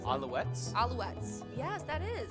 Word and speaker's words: Alouettes: the Montreal I don't even know how to pronounce it. Alouettes? Alouettes. Yes, that is. Alouettes.